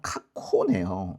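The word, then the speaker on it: 過去: 과거는 카케가 아니라 카코네요. 이것도 코로 바뀌었네.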